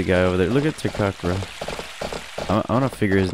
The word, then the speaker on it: Takakura: Look at Takakura.